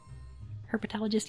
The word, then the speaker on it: herpetologist: their Uncle Monty who is a um her herpetologist how does how is it pronounced he's use snake person Bist perfect herpetologist yes I did it right I did it